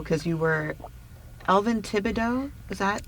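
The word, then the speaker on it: Elvin Tibideaux: I'm going to jump a little bit to how, because you were Elvin Thibodeau, is that how you pronounce his name?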